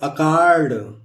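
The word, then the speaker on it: accord: उसको स प्रोनाउंसिएशन होगा, लेकिन यहाँ ओ के पहले आया इसलिए हम यहाँ क का प्रोनाउंसिएशन करेंगे।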